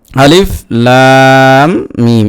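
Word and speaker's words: الم: আপনার হরফে হেজার মত মানে আরবি বর্ণমালার যেভাবে উচ্চারণ করতে হয় আলিফ বা তা সা জিম দাল জাল রাজা সিনশিন এরকম অতএব এখানে আলিফ লাম মিম এরকম পড়তে হবে।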